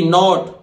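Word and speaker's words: knot: इसी तरह देखिए के एन ओ टी नॉट, के नहीं बोलेगा वो, नॉट एन ओ टी नॉट नहीं होता है, पर के है इसलिए नॉट, तो नॉट बोलते हैं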